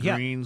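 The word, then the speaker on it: Gruene: You mean out by Fredericksburg and Green spelled G R U.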